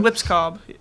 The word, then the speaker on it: Lipscomb: Lips Cobb. Cobb. So the M is The M silent. is not in the the B. alphabet. The M is silent. Not the B.